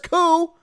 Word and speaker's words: coup: I know it has a P on the end, but the P is silent.